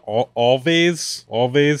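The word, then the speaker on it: Alvvays: Always, it's like always, but spelled with two V's.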